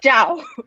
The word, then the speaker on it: Zhao: Because my last name is Zhao, not Zhao, not all Zhao. It's Zhao. I know you probably don't know how to pronounce it, but let me first help you with the pronunciation. Try to say Steve Jobs. The Jobs without BS.